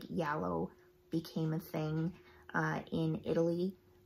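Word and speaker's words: giallo: Like, this is for before like Yallo became a thing in Italy. People also pronounce it Gallo or Jallies. You might know them as Jallies.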